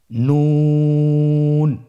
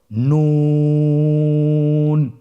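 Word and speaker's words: نون: আপনারা জিহ্বার আগাটা তার বরাবর উপরে তালুর সঙ্গে লাগিয়ে উচ্চারণ করুন এবং আমার সাথে বলুন নুন। আবার বলুন নুন।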